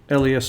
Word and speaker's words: Les: I think when we say Les Mis, L-E-S is pronounced Les in French English.